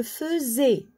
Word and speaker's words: faisais: Je faisais. Attention, le AI ici, on le prononce E.